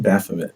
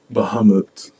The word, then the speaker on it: Bahamut: he wants to help with Mohammed keep putting Baphomet goddamn like Muhammad is it really just a